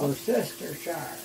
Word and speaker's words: Worcestershire: And I know, I don't ever pronounce it right, it's Worcestershire sauce. Worcestershire.